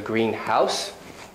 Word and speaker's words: greenhouse: same with say um maybe you live in a green house i hope you don't live in a greenhouse because that would be weird you might live in a blue house probably don't live in the blue house you're not that lucky so a lot of stress a lot of compound words have the main stress in the first part exceptions being personal names